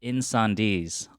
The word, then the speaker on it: Incendies: make sure okay cool cool cool um called in sandees also i don't know if i'm pronouncing that right that is correct right okay